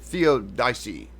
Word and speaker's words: theodicy: The central theological themes that are questions of theodicy, how do you pronounce that word? Theodicy.